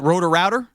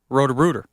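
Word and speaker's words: Roto-Rooter: Is it rotor-router? Rotor-rooter. Rotor-rooter, but that's not spelled like Rotor-router.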